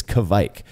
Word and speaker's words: Kveik: Norway, and he said, the way you say it is like quake, so like earthquake, except you add a KV at the beginning, so Kveik. That's how I'd been saying it up until maybe last month, when about 15 other people who live in Norway were saying, it's Kveik. It's like Kveik, but with a V, Kveik.